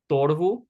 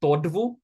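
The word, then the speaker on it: તોડવું: Again, notice we have a duh in the middle of a word. So when we have that duh, we do pronounce it quite quickly and lightly. Torvu. Not quite tordvu. This torvu, much lighter.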